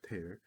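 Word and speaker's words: tear: 성이 좋고 그리고 to 어라고 읽어야 돼요 테어 티어는 눈물이고 태어는 찢다 찍기 어려운 뽕나무 껍질를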